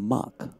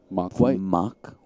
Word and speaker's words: Mark: white although i think you have to say his name mock mock white yes fellow commentator sounds